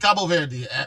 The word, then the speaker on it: Cabo Verde: It's actually pronounced Cabo Verde.